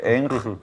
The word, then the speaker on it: Ng: está ser miang eng creo que se pronuncia Así es ng escrito escribe ng eng se pronuncia que es el que